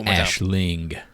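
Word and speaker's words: Aisling: her name for you boys let me do Ashling I say as Ashling Ashling franos who in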